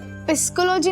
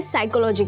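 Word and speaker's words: psychology: पी एस वाई पिस्कोलॉजी दीदी हम ये पिस्कोलॉजी क्या होता है क्या पिस्कोलॉजी किटू वो पिस्कोलॉजी नहीं होता है पी साइलेंट होता है इसे साइकोलॉजी कहते हैं।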